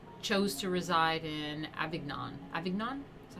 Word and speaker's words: Avignon: who succeeded him chose to reside in avignon avignon is how you say it understandably this did